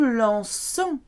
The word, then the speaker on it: lançons: To keep the soft C sound, for the nous conjugation, it's only the nous conjugation, we add a cedilla accent to the C to keep it soft. Nous nous lançons.